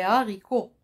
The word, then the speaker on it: haricots: haricots vous que vous vous m'entendez comment je prononce les haricots alors que là on dit les habitudes j'ai mis la liaison parce que ce h